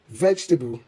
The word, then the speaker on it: vegetable: In English, unstressed vowels are often dropped or softened, resulting in 3 syllables, vegetable, instead of 4.